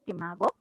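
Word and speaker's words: SCImago: What Shimago does is, it is pronounced as Shimago.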